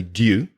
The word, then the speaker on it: due: when's it jew now there are three different kinds of pronunciation for d u e one way is the way i say it which is jew which is j e w it sounds like you could also say do do which is like